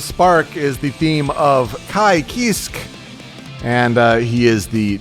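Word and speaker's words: Ky Kiske: do you pronounce that apparently in japanese it's a i and then kisku so and then he's like french also so it's apparently kai kisk so neat to hear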